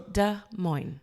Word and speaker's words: Des Moines: And Des Moines, both words, two words, have an S at the end. Yeah. But they are not pronounced. Do not pronounce those S. So Des Moines.